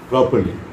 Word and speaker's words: properly: Properly, also the second R is silent. Properly. You can just say properly. No need of you can actually think there is no R when you're talking about properly.